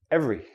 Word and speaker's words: every: Another word, every. Every. I don't say every. I don't say this letter E.